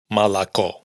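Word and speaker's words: молоко: Entonces, una palabra como esta que significa leche la pronunciaríamos malacó.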